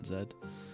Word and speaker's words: Z: zette vapor stop pushing Zed or Z for those of you that pronounce it that way and when we got